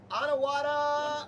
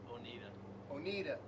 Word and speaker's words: Oneida: Next up was a match against the Onawada Attack. One yada. That's how it's spelled. One yada. Oneida. Oneida, New York, which resulted in a 6-1 victory.